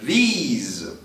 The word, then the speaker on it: these: Diferente do demonstrativo plural, que tem como som final z, these.